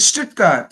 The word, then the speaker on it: Stuttgart: But is it Stuttgart? Stuttgart. Yeah.